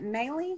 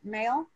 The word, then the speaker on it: Maley: So welcome Matt Hamblin and, is it Maley? I'm never sure if I pronounce it right. Mail? It's Maley. You had it right the first time.